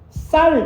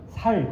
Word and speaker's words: 쌀: 경상도 사람 중에 어느 특정 지역에 쌀 발음을 못해요. 쌀이라고 하면 살 그럽니다.